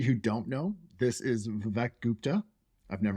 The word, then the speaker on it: Vivek: So it's actually super common in India, but it's pronounced Vivek.